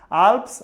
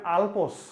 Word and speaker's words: আল্পস: অনেকে আবার এটাকে উচ্চারণ করেন আলপস। হ্যাঁ, গ্রীষ্ম অনেকে উচ্চারণ করেন, গ্রীষ্মকাল আসছে গ্রীষ্মকাল। আরে ভাই, গ্রীষ্ম না, উচ্চারণটা হচ্ছে গ্রীষ্ম, ঠিক আছে? এটা আলপস না, এটা হচ্ছে আল্পস, ঠিক আছে, মনে থাকবে।